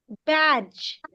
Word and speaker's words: badge: end of the word, the D will be silent. So it will be turned into J.